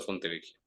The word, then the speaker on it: Fontevecchia: Ese es el famoso caso Fontevecchia, que es un caso de derechos humanos, libertad de expresión. ¿Cómo se llama? ¿Caso? Fontevecchia, se escribe con dos C, Fontevecchia, Fontevecchia. Fontevecchia y D'Amico, D, apóstrofe, Amico, con C.